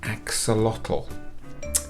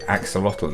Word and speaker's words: axolotl: a year ago and it's something called an axolotl um Axolotl isn't that a funny word and look how it's spelled a-x-o-l-o-t-l what a funny little word so